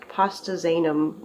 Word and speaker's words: pastazanum: This is a pastazanum or a pastazanum. I've heard it pronounced pastazanum more often, so I guess that's what I'll call it until I hear differently.